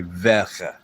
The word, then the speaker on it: Werke: Whenever they say the words that, which we would pronounce with a W, it would be ve. So Bavarian, Bayerische Motor, Motoren, and instead of works, it would be Werke.